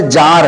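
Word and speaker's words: czar: सुल्ताना इसी तरह से जार है इसमें सी साइलेंट रहेगा इसको हम पढ़ेंगे जार पुरुष को य उपाद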